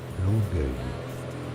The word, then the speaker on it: Longueuil: Longueuil. Longueuil is how it's said in French. Longueuil, so in English you can say Longueuil.